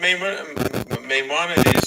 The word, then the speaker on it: Maimonides: I see that Maimonides, sorry, is it how you pronounce it? Yeah. The Rambam, you can say the Rambam.